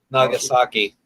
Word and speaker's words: Nagasaki: Nagasaki.